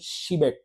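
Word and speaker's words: Przybek: Kita tuh kenalnya namanya Adam Shibek gitu, Shibek ya, dibacanya tuh Shibek.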